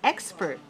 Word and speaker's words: expert: right number eight is expert expert expert has two syllables and it's dressed on the the first right so 2-1 expert